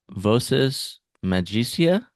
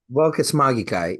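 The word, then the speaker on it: voces magicae: Uh, visas magisia, uh, aka like magical words. Oh, vocus magikai. Yeah, that's the So that's the Latin.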